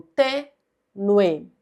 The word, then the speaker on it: tênue: Então, nós pronunciamos o U e o E como um ditongo, tênue.